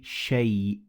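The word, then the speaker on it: شيء: Now, as you can see, the alif in shay, it is written, but it is not pronounced. So we say shay.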